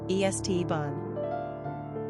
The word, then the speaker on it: Esteban: Flair quick facts on Esteban gender boy origin Spanish number of syllables three ranking popularity 390 pronunciation EST bun simple meaning Garland Crown